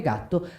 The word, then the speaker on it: Gatto: consonant because it is not the sweet G of Gelato but the hard G of Gatto: you see that in fact to say Gatto I activated my hidden